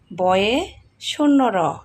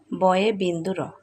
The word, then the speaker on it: বয়ে বিন্দু র: বয়ে শূন্য র। আমরা কিন্তু অনেকেই বলি ভুল, এটা বয়ে শূন্য র নয়, এটা হলো বয়ে বিন্দু র।